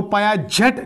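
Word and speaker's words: Piaget: तो पायाजेट लिखते हैं लेकिन प्रोनाउंस करते हैं पायाजी।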